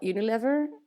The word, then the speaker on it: Unilever: Then I went back to my my employer called Unilever. Do I say it right? Unilever, yes.